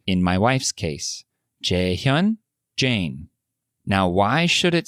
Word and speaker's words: Jae-hyun: her name and say, Jae Hyun? Jae-hyun is the correct pronunciation, but they would say Jae Hyun?